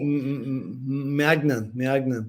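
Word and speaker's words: Maignan: How do you pronounce that surname? Mike Magnan.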